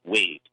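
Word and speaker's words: Waad: the tower at the time but Sir William wait his name is spelled w8 ad like WOD but it's pronounced wait so weed was there in the tower to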